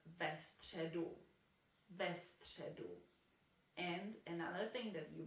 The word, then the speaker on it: středu: And another thing that you might have noticed, we cannot say v středu because it's just too difficult to pronounce. So for pronunciation reasons, v will be changed into ve.